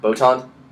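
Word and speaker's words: Botman: Botan.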